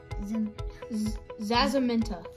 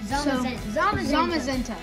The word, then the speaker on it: Zamazenta: Full Art Zacian, Cinderace, Mega Pidgeot, Zazamenta. Okay. I know how to say it. It's just, I forgot. And also, Zamazenta.